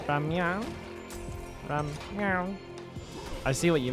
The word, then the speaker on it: 라면: It's ramyun. It's just ramen. Said in the Korean pronunciation.